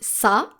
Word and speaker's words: ça: No matter the vowel following the letter C with a cédille, you will need to pronounce it just like the letter S.